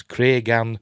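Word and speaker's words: Cregan: and ticktockers please note Condell pronounces those names as craigan and Daron all right see I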